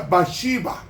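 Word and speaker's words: בת שבע: Y la última esposa se llamó Bexabé, que se pronuncia Bashiba en hebreo, hija del juramento o hija del séptimo día, es decir, el sábado.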